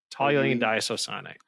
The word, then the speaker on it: diisocyanate: Toluene diisocyanate.